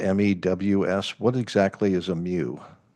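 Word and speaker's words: mews: your report refers to what are called Muse that sounds like a cat noise but it's spelled me WS what exactly is a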